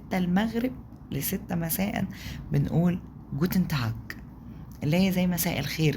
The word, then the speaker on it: Tag: طيب انما guten Tag، guten Tag، guten Tag، guten Tag، مش تاج لا تاج.